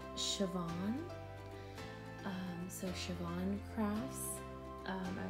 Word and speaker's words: Siobhan: been told it's Irish the name and it's pronounced Siobhan so she blonde cross I was having a